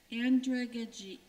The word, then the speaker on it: andragogy: Andragogy. Andragogy or andragogy has many pronunciations.